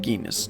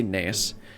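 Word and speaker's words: Gnaeus: I'm gonna call him Genus. No. And Medius? G-N-A-E-U-S. I would imagine the G is silent. Maybe Nias? Or Neus? I'm gonna say Neus.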